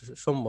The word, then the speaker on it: সৌম্য: উদাহরণ দেই দেখবেন যে সৌম্য সরকার যখন খেলে তখন দেখবেন যে বিদেশী লোকরা সুমিয়া সরকার বলে ঠিক আছে কিন্তু বাংলাদেশ কিন্তু ওর নামটাই হচ্ছে ঐরকম যে ওদের ওইখানে ট্রান্সলেট করলে ইংলিশে ঐরকমই উচ্চারণ হয় বাট আমরা তো রাখছি হচ্ছে সৌম্য তাই না তো এটা